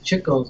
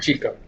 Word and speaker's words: Chico: everybody pronounces Chico's name I'm wrong? showing you that. I I can't don't reach know. that. It's too close. You can't even reach that. People pronounce it Chico, but Right. it's Chico.